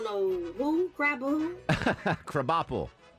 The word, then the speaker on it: Krabappel: All right, Randy, Edna Krabappel. He is right. I'm like Edna. I remember maybe a character named Edna, an older lady, but I don't know who, crab or who. Krabappel. Spelled like crab apple.